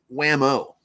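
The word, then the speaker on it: Whameaux: yeah his name is Wham-O yes of course but it's but it's spelled it's not like whamo the toy it's French it's w-h-a-m-e-a-u-x yes right like Wham oh fancy fancy WeMo yeah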